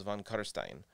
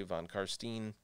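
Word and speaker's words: von Carstein: a little bit and the end rhymes with wine so it's von kutterstein some people try to say von karstein or something like that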